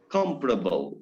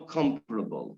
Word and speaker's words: comparable: adjective comparable, you know, comparable, to compare and comparable. But many speakers pronounce it comparable because of analogy with the verb, you know. So it's compare, then it must be comparable, not comparable. Or we first learn some